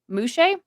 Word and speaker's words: Muxe: It's pronounced Muxe, but it's spelled Muxes.